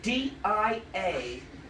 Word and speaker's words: Dianic: religion called dianic wicca you want me to spell that don't you yes d-i-a-n-i-c dianic wicca w i c c a and